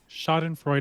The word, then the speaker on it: Schadenfreude: So for when you can't be funny, Schadenfreude has got your back.